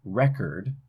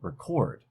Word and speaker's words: record: a look at English English has a lot of two syllable words that can be a noun or verb depending on where the stress is so in number one record we have stress on that first syllable and that's a noun form but if we change the stress and put it on the second syllable we get record a verb so there's a stress